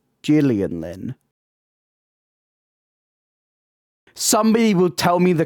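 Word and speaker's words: Gillian Lynne: It's a soft G, so it's the Gillian Lynn.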